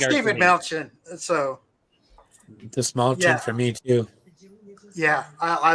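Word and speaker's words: Dastmalchian: He said the small chin, like you're saying him. Pointing to your chin.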